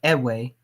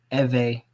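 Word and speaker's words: Ewe: i was saying by the colonizer it said edway is not their correct name but at va and that's how we pronounce that's how they pronounce it so to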